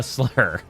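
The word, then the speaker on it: Slyr: It's It's spelled Yeah, it's spelled S L Y R, but it's still pronounced slur in that case.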